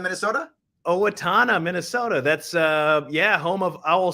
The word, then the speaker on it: Owatonna: So Sarah says, hello from, I'll say it right, Owatonna, Minnesota. Owatonna, Minnesota.